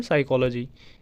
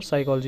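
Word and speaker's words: psychology: Example के लिए साइकोलॉजी, इसमें भी एक पी साइलेंट होता है, तो एग्जाम्पल के तौर पर साइकोलॉजी यहाँ पे दिया गया है।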